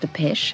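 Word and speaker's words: Dépêche: a French tape recorder it's actually pronounced the pesh it means to go forward quickly hurrying fashion why did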